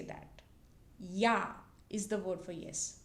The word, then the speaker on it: ja: So it's pronounced like yo.